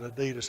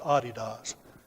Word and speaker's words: adidas: the court room that you didn't pronounce it adidas it was aa DDoS I never heard anybody pronounce it like that ever again but just in case just so you know it's da DDoS it's not adidas okay anyway she track